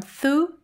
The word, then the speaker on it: သူ့: And it shortens the pronunciation too, from tu to tu.